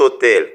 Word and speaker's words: hôtel: commence par N MU on ne prononce pas h c'est mu on dit cet hôtel c'est pourquoi et c'est